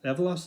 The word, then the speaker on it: Avalos: for them uh boise andy avalos avalar evalos is how you say it see if you can